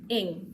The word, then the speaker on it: Ng: Ing.